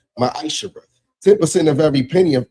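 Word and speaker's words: מעשר: Means 10th in Hebrew and is pronounced ma'asher.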